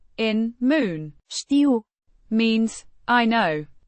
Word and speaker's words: Știu: Știu. Means I know. It's the first person singular present indicative of A ști. to know. Pronounced Ștău. the I. sound is like the ee in see.